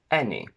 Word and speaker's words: any: The letter A never gives you the sound E except for these 4 words. Any, many, et, which is a less common way of pronouncing ate, the simple past of to eat, and Thames. AI only in said and